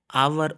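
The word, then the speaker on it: hour: लोगों को पता है आवर ऑनेस्ट और एयर इन वर्ड्स में एच साइलेंट है इस वजह से यह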